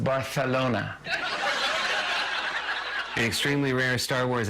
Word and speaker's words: Barcelona: The good news is your friend can't come back from Spain being like, it's pronounced Barcelona.